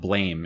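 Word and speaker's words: BLAME!: I just found a a manga that came out in the late '9s called it's spelled blame in English, but it's like blam and it's like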